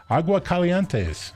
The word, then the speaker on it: Aguascalientes: They're built in, I like to say this and I don't pronounce it correctly, Aguascalientes, Mexico.